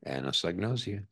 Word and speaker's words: anosognosia: There's a psychiatric term for it, which I can now pronounce. Anosognosia, is that right? Anosognosia, mm-hmm.